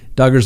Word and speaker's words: Duggar: electronic devices other than duggars who rhymes with hugger the court finds that